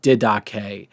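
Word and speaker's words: Didache: dead K okay uh it's spelled like die Dash but it's dedic it's a it's a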